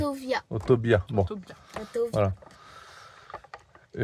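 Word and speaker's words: autovía: Oui, parce que ça s'écrit autovia. Et nous on le prononce le V. En espagnol. À l'espagnol. On prononce le V. B. Autovia. Autobia.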